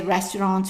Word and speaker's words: restaurant: And that's actually how we say restaurant for short, resto. Now, let's finish the word. The T at the end is silent. The AN, as we said, is pronounced en. So, how would you say the whole word?